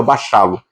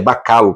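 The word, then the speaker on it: Bachalo: E aí tem uma entrevista com o o desenhista, o Crisc, eu sempre chamava Balo, mas é bacalo. Parece que a pronúncia certa é bacalo.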